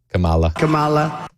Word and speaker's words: Kamala: Kamala. Even Democrats pronounce it this way.